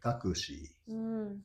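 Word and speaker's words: タクシー: Yeah, that's why so the way we call it in Tokyo is taki taki taki. But in other parts of Japan very often it's in the western part of Japan it's pronounced like takushi. Takushi. So you is more clear on their pronunciation.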